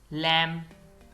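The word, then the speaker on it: lamb: date कर्ज सब्बल Latif लैम यह लैम है इसमें भी बी नहीं पढ़ा जाएगा लैम भेड़ का बच्चा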